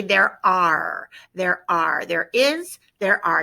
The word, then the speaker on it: hay: We're going to say there are, there is, there are. You've learned it as hey, except we don't pronounce it hey, we pronounce it I, correct?